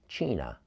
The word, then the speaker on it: China: Her name is spelled just like China, the country, but it is pronounced China, according to the book.